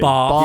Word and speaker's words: bath: research, and they reckon the divide between north and south is on how you pronounce Bath. Oh, really? Bath Yeah, or Bath.